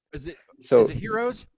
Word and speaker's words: gyros: Don't pronounce the G though. Is it So is it heroes? It's heroes.